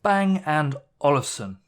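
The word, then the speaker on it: Bang & Olufsen: just give me one second here we go bang and olufsen apparently typing is also very comfortable with the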